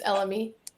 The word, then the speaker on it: elemi: How do we pronounce that? It's Elemi.